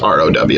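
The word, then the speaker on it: ρ: that with row and that's pronounced row like row row row your boat so we're going to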